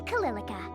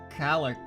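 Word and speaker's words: Calilica: me introduce myself again i'm calillica lillica okay yeah that's how i was gonna pronounce it totally i wasn't gonna say calico or nothing it's a pleasure to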